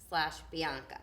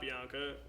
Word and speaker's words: Bianca: And I sing Bianca, which is pronounced Bianca, not Bianca.